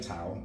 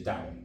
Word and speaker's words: Tao: Most people say Tao, but it is the Chinese way of pronouncing it is Dao.